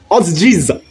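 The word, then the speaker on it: otjize: Otsize. Yeah, that's how you say it. You have to have the accent like the Africans.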